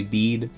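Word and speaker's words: Bede: I know it's supposed to be bead like it's it's like a beet like the the vegetable but like beady sounds funnier and then people are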